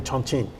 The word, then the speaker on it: Chongqing: How is my pronunciation of Chongqing now? Is it better? Yes, it's the really correct.